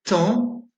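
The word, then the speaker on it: taon: Vous avez aussi une graphie un peu plus exceptionnelle, c'est AON. Vous l'avez dans trois mots, fan, c'est Bambi, le petit animal, pan, le bel oiseau avec une queue multicolore, et tan, qui est une mouche qui pique et qui fait assez mal.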